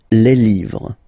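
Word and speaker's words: les: Le and then same rule, you just write li and then you put s at the end, but then you don't pronounce it. Le.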